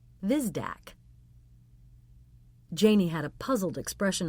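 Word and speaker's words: Hvizdak: The H is silent, and you pronounce the V. Vizdac.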